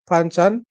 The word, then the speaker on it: Panchan: I can't pronounce his name good, but it's Panchan.